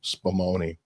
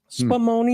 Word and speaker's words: Spumoni: Spumoni. Spumoni.